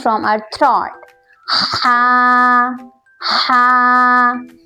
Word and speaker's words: ہ: Ha, Ha. In this letter, we pronounce this letter from our chest.